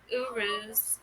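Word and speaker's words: Uruz: Pronounce urus.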